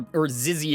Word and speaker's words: XYZ: It's a warrior type XYZ card. Or Zizzy, as some people say. Or Ziz or whatever. People say that so strange. I've heard it pronounced so many different ways.